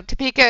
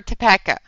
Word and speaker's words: Topeka: to do that anymore Zoe just saying now Topeka is it Topeka or toeka just to make sure so I can actually